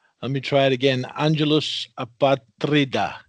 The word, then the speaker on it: Angelus Apatrida: Angelus Apatrida, correct?